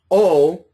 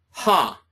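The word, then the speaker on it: ὁ: So the way that we pronounce this word is not O, but ha, ha, okay? And then this word is hey, not A, but hey, because of that rough breathing.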